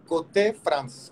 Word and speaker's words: Côté France: La escuela se pronuncia Côté France, quiere decir del lado de Francia o un rincón de Francia.